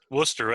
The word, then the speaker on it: Worcester: I think basically a lot of these towns, just like Worcester, how you pronounce it properly? I always get it wrong. Well, it's probably improperly, but Worcester. Worcester, that's right.